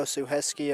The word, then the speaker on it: Suchecki: The likes of Jimmy Filerman, Tom Suchecki, who's a goal scorer on the night. Oh, Suheski, okay. No, that's the Polish pronunciation.